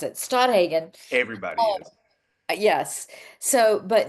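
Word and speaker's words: Stadthagen: mentioned this week when we had um leader Stoagen. Stoodhagen. I'm always terrified to say his last name because I'm going to mispronounce it. Stoodhagen.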